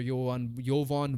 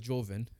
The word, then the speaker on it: Jovan: according to Lakers reporter Jovan Buha, similar to your name almost. Yeah. It is spelled like it's Jovan, and that's Yeah. But it's Jovan Buha from the Athletic, saying